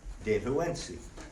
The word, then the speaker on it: Dehuensi: So the NT combination, going back to the pronunciation, NT sounds like a D.